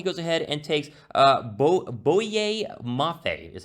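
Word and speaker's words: Boye Mafe: 43 overall he goes ahead and takes uh bo bowie mafia that's how you say his name and i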